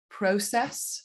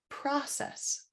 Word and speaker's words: process: certain degree so um one of my favorite examples of that is the difference in um process in the uk with an o diphthong and an identical spelling in the states that changes to process process process and process and this is a